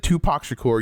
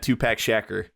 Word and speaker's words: Tupac Shakur: I'm telling you, just think Tupac Shakur.